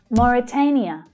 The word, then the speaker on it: Mauritania: Mauritania, Mauritania. So that stressed syllable there is the third, the A as in day vowel sound. Mauritania. And we can hear the first sound quite clearly too.